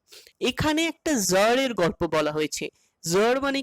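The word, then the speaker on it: Tsar: আর এই উচ্চারণটা হচ্ছে জার, যেখানে টিটা সাইলেন্ট থাকবে।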